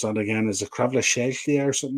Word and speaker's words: Kvaratskhelia: How do you pronounce that again? Is it Kvaratskhelia or something like that? Kvaratskhelia, yeah.